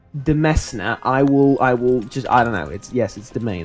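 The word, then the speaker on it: demesne: Or to increase my demence. It's not demence, is it? It's never demence. It's domain, right? Demesna. If you do not pronounce that Demesna, I will just, I don't know.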